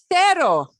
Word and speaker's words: cero: And notice it's not spelled with a Z, because in Spanish, Z and E, Z cannot be next to an E. It cannot be followed by an E. So when they spell that out, it's C-E-R-O, not Z-E-R-O, not Cetta, but se. Cero.